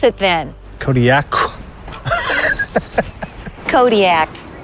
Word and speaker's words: Kodiaq: I live in Kodiaq. In the Alutiiq language, the Q's are more come from like your throat than a normal K does. How would we pronounce it then? Kodiaq. Kodiaq.